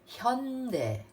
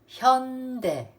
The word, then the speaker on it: Hyundai: It's pronounced Hyundai. Hyundai.